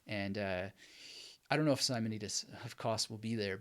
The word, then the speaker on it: Simonides: By the way, some people pronounce it Simonides, Simonides. There's lots of ways of doing it. But Simonides, I think, is good.